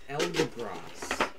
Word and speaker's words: Eldegoss: I don't know how to pronounce this. That is Eldegoss. Eldegoss.